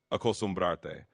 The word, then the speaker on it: acostumbrarte: Yeah, so you can say it like acostumbrarte. It's got that te at the end because it's a reflexive form and you're telling someone to get used to something.